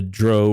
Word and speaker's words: drow: about but the drug the the Dro or drow depending on how you pronounce it is are the